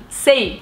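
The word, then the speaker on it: seis: E no caso 6, eles também não pronunciam esse S do final, a maioria. Então, sei.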